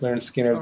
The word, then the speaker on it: Lynyrd Skynyrd: second helping nothing fancy pronounced Leonard Skinner that that's the core